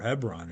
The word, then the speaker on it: Hebron: these things are happening in Hebron or Hebron as it's more appropriately pronounced which is right smack